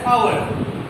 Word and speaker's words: hour: তারপরে আমরা ইউজ করছি I am waiting for you dash hour, তাহলে এখানে a এটা কনসোনেন্ট, বাট এটা উচ্চারণ কিন্তু অনেকটা আমাদের ভাওয়েলের মতো, ঠিক আছে, hour ও আছে, তার জন্য আমরা এখানে n ইউজ করব।